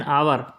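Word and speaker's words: hour: जैसे कि एन आवर, तो आवर में एच साइलेंट है, OUR पढ़ते हैं जबकि एच भी है।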